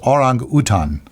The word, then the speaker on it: orang utan: its actual original pronunciation is orang utan. I think that's a basketball player from Yugoslavia. Anyway. Well, that's how you would say it if you were in Kuala Lumpur or something.